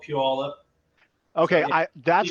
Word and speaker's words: Puyallup: So it's Puyallup, like Puyallup.